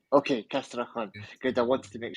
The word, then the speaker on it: Castrejon: Alejandra Guilera Castrehun. Castraon. Okay. Castraon. Good. I wanted to make sure I got the pronunciation right because uh you know I'm trying to learn Spanish myself.